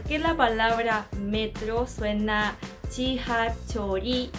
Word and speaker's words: 지하철: Para la primera sílaba tenemos G, que sería como una J inglesa, o también puede ser como una Y en Latinoamérica, pero un poquito más suave, como G, ¿me entiendes? Y-I, G.